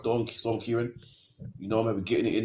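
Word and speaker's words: Ciarán: about now we just beat was storm storm Kieran two days ago yesterday storm Kyan was yesterday man about about weird but apparently it's pronounced stor storm Kyan you know be getting it in man upk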